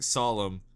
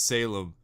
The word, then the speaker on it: Salem: when you mispronounce Salem you're saying solemn but it's Salem like Salem with drew have I really been